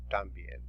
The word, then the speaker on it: también: También. También has an accent on the E, so you will look for the E.